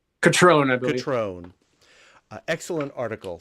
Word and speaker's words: Cutrone: The title is A Walk on the Wild Side, and stereo photographs made by Ronnie Cutrone. Did I pronounce that right? Catrone, I believe.